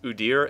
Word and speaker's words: Udyr: that I will mention, I've heard his name pronounced as both Udyr and Udyr, and I will probably say both in this video, so I don't really care which pronunciation people use, so don't worry about bugging me about that.